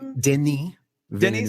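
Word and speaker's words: Denis: directed a rival and I only know that that French name is pronounced that way because there's a blondie song called Denny Den ah okay he uh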